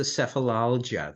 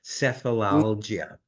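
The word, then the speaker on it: Sefalaljia: to thumb through it and there was the sephilia that's the proper pronunciation sephilia which essentially means headache I think it's Latin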